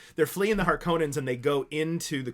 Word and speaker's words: Harkonnen: fleeing from the Harkonnens, or Harkonnens, as you pronounce it in the 2021 version of the film. I hate that. But okay, Harkonnen in the 1984 version, so that's how I'm going to say it.